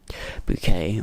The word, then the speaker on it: Bucket: It's about this woman, Hyacinth Bouquet, or Bucket, as it's probably be pronounced, who basically tries to live like an upper class person.